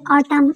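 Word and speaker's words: autumn: spring के बाद है ऑटम ऑटम मींस खिजा एंड जो है साइलेंट है तो चार मौसम के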